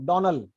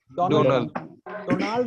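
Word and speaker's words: Donald: लो य दोबारा किसी से गलती ना हो डोनल डी ओ एन ए एल डन डल्ड नहीं है डल्ड नहीं है डन डोनल डोनल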